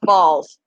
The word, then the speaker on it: Bals: And his last name is spelled Bals, but it's pronounced balls.